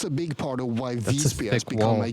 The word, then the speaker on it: Visby: Visby. That's how you say it. Visby.